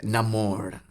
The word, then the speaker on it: Namor: It's Namor. There is no name more. The name of the mutant, it's Namor.